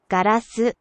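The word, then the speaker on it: ガラス: I mean, you won't necessarily recognize them first off, because the Japanese pronunciations can be a little funky. See, toilet. Toilet. A really useful one. Also, glass. Garasu.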